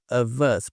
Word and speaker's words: of: Esse O tem um som de e esse F tem um som de V, tá? Ele tem um som de V. Of us.